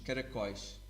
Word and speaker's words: caracóis: But in Portuguese, we say os caracóis. Os caracóis. Okay? Notice that here we add an accent on the O to make it a very strong O.